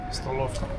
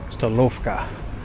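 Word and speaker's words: Столовка: How do you pronounce it? Stolovka. Stolovka.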